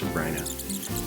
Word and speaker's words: Sabrina: life Sopranos and Holly it is pronounced sabryna's you'll see a lot